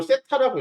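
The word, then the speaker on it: θ: 그 각을 이렇게 표현하는데 이걸 세타라고 읽어요. 세타. 이거는 보통 너네한테는 이렇게 세타까지 써서 주진 않는데 세타라고 읽고 이 탄젠트 값 있죠.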